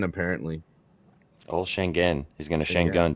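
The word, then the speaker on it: Şengün: now but our boy it's properly pronounced shenen apparently oh shenen he's going to Shang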